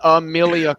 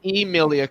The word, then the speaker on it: Emilia: hogue in the chat her name is not amelia clark it's emilia clark spell